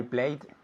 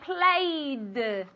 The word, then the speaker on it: played: I play yesterday I played I played with a D sound not with a t sound and gases okay asked